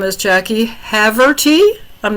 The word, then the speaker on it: Haverty: We'll blame it on I have to tell everybody that because everybody mistakes my last name as a Haverty cheese. Say it again. How do you say it? Haverty, Haverty.